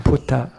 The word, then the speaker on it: Buddha: it becomes a T the D becomes a key and the B becomes a P Buddha become puta but you can learn